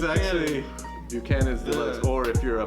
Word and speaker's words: Buchanan's: There's a lot of debate on actually how to pronounce it in the bars with the Hispanics and the white people. Yeah, there shouldn't be because it's fucking Irish. I don't know. Exactly. So it's Buchanan's.